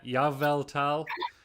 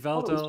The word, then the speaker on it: Yveltal: Some people are telling us how to pronounce Yveltal. We've got a Yaveltal. We've got a Yveltal. Evel. You're not the only one. No one else knows how to say Yveltal. Thank you. Oh, it was Yveltal.